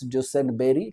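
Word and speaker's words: Duesenberry: को देख लिया आपने आर को साइलेंट कर दो ड्यूसेन गोली को बोलो बेरी जेम्स डसन बेरी नाम पूरा याद रखो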